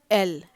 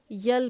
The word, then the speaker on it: L: इसे छोटा ए ल एल ऐसे लिखेंगे बहुत लोग इसको यल पढ़ते हैं जो कि गलत है इसका सही उच्चारण होता है एल अब है एम कैपिटल